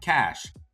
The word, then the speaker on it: cache: cash or cash a a cash is a group of things that are hidden and is pronounced like cash cash can mean prestige